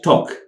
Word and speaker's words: talk: ቁኑዕ pronunciation ጌጋ ካልኣይ talk እዚኣ ብዙሕ ግዜ ኤል ልድብል ድምፂ ዝውስኸላ ኣለዎ ግን ኣዝያ ኮመን ኣይኮነን talk L is completely silent ta L تقليلا አይድመጽንያ